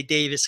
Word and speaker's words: Davies: Davies, or yeah, as the Brits say, Davis, because the Welsh people get mad.